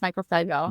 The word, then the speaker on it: Michael Seibel: I mean, if you watch the YouTube videos with Michael Saib, how do you say his name? Michael Seibel? I think it's Michael Seibel.